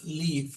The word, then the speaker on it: live: Bueno, ahora ella lo pronuncia como life, pero realmente es live.